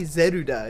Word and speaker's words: Zelda: We call it Zelda, but it's probably Zeruda, isn't it? Zeruda! Yes, everyone. The proper way to pronounce it is Zeruda.